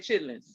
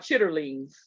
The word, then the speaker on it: chitterlings: uh so anyway so we always said chitlins i didn't know really it was called chitterlings yes tutorings yes until i was grown like grown grown because